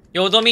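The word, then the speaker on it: 淀み: だがな、死なぬというのは淀みを生む。淀みって読むんだ。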